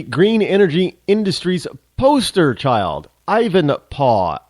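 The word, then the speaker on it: Ivanpah: energy Industries poster child Ivan paw i v n p a Ivan paw you know how they used to say Dad back in the in the in the 1800s PA anybody watch Little House in the prairie was Charles Les They al paw they didn't call him dad or daddy it was PAW so Ivan paw uh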